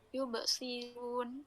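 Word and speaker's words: يبصرون: Yubsirun ini dibacanya tarkik. Kenapa? Karena alasannya itu ada shad yang berharakat kasrah di depan rnya. Yubsirun ro bukan yubsirun tapi yubsiru ru runya ditark.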